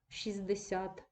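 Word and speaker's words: шістдесят: спрощення в групах приголосних ми не вимовляємо Т 60 але пишемо цю букву все що утвореневе слово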